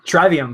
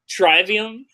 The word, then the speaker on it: Trivium: ] Falls accident alright guys so we're gonna pronouncing our tribe iam Trivium for a long time Tribune no I'm okay with that Trivium treyvion there